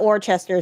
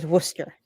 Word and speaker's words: Worcester: So, he knows how to pronounce Worcester. Not Warchester Worcester.